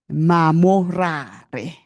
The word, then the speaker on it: Mamorare: I was taught, earlier how to pronounce her surname. I must not rush it. Mamorare.